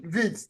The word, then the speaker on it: Wirtz: Then in the mid you have Florian Wirtz, Wirtz, whatever, however they pronounce that it's dude's name. Vitz. They call it with V.